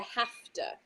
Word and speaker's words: have to: So for I have to, we say I have to, have to, have to. So the have to. V sound more like turns into an F.